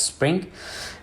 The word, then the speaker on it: xSpring: And the next is Spring, Xspring, basically it's pronounced as Spring.